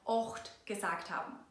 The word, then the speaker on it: ocht: And even with eight you may have noticed that we said ocht. In another video about the dialect, we explained that we often pronounce “a” as “o”.